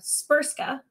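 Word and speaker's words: Srpska: called Republica spa and you heard that right the Bosnian language um seems to have no vowels as most of the Slavic language do it's spelled spsk so established this semi-autonomous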